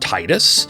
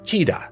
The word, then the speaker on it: Tidus: And are you already typing a comment about how it's pronounced Titus? If so, please pause and consider that you are incorrect. In Japanese, his name is Tida.